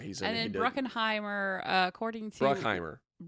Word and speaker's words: Bruckheimer: Bruckheimer. Not Bruckenheimer. There was no I want to add that extra syllable. There is no E-N in there. Anyway, it's just Bruckheimer.